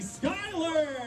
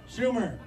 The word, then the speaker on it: Schuyler: molly skyler i said it right every year i've got to make sure i say her name right so i say it to her at least three or four times and then dan kennedy comes over and says it wrong schumer no not amy schumer